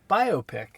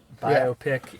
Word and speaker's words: biopic: the internet say the internet says it is biopic okay so I've been right it's correct okay